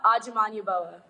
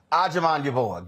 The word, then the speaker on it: Agyaman Yaboa: Is it? Yes, that's right. Okay. Don't pronounce the rest. Oh. It's pronounced Agyaman Yaboa. Agyaman Yaboa.